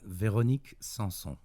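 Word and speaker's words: Véronique Sanson: Only because I don't have the pronunciation skills that you have. No, that's cool, man. Veronique Sanson.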